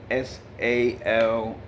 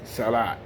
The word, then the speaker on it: salah: sometimes you see a-h and people say salah this is the correct way to pronounce the prayer that you make five times a day okay even people who know how to read properly and pronounce properly many times make this mistake and say salat there's two different s